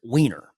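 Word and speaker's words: Wiener: Now, his name is Scott Weiner. Yes, he pronounces it Weini. I know what to tell you. It's just how he does it.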